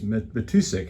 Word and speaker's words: Matusik: Matusik. I always pronounce that wrong. Did I get it right? You got it right.